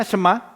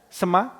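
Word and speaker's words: שמע: Jika kamu sungguh-sungguh mendengarkan, ini saya sudah pernah katakan sebelumnya, ini kata Ibrani saudara yang bacanya sema ya, sema bukan Chinese ya, Saudara ingat.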